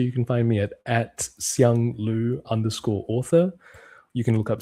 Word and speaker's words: Siang Lu: I want to make sure I pronounce it correctly. Siang Lu.